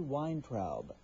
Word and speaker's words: Weintraub: The book is called Yoga for Depression, and the author is Amy Weintraub. Did I pronounce that correctly?